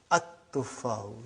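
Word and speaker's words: التفاح: But now your mind knows that that is a sun letter. So you will pronounce as at-tuffahu. You will put a shadda anta. At-tuffahu.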